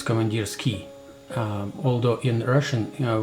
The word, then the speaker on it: Komandirskie: characters in English it's ie it's it is pronounced its commandeers key although in Russian you know word it's pronounced commandeers key here not command us key but come on dear skier that's the only